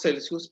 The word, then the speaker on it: Celsius: hablemos de temperatura en grados celsus Esa es la pronunciación correcta No grad Cent verdad bien eh cuando